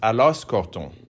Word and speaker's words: Aloxe-Corton: Le village s'écrit Aloxe-Corton. Mais on est censé prononcer Alosse-Corton.